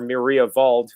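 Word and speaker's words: Mariawald: long time it's called Maria Wald or Maria VA I'm going to pronounce it correctly in German and the Maria VA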